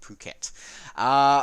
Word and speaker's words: Phuket: of Phuket International Airport's I know a lot of you will pronounce that differently but trust me it is pronounced Phuket okay so this is